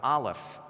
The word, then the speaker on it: Aleph: And on top of that, of course, what sound does the Aleph make? None. It's a silent letter.